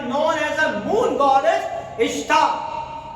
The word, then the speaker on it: Ishtar: The queen of baby Aka Madonna or Aka Semiramis became known as a moon goddess Ishtar. which can be pronounced as a Esther.